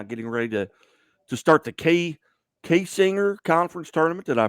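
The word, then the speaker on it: Kaysinger: Coming off a 26-point victory over Otterville a couple of nights ago, now getting ready to start the K-Singer Conference Tournament. Did I pronounce that correctly?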